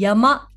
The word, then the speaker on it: 山: 山という子もう一つの読み方がありますねぇ知ってるかなこれこれは何そうそうやまですね山山といえ